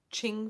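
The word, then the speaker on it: Qing: did a pre-order through Ching Fiber. Um, I think that's how you say it. Q I N G.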